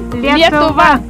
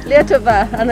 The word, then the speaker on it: Lietuva: Lietuva. Lietuva.